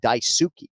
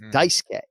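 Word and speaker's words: Dice-K: release saying you know don't call him daisuki you know it's dicekay you know let's make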